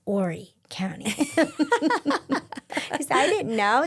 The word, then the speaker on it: Horry: It's Ory County cuz I didn't know that. There's a big H there. Do you say do you pronounce it or not? You don't. It's Ary County.